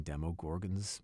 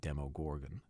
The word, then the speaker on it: Demogorgon: that I'd been pronouncing demo gorgon's name wrong I'd been saying demo Gorgon instead of demo Gorgan I immediately realized how